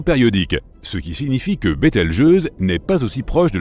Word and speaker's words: Bételgeuse: supernova pour le moment quant à la manière de prononcer correctement Bételgeuse tu peux le faire comme bon te semble tu peux même dire beteljuice si tu en as envie la supernova 1987A a